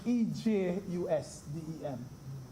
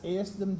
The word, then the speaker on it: ejusdem: When I was at law school, I learned of a rule called the EJUSDEM, that's it, E-J-U-S-D-E-M. Pronounced like if the J was an H.